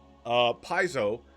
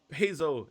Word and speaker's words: Paizo: Per the Paizo FAQ. Oh. My wife coming in here. She's either going to give us a history lesson or tell us how to pronounce it. Rhymes with Pido.